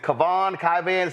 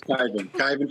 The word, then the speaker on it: Kyvan: First off, is it Kavan? Pronounce it, please. It's Kyvan Foods.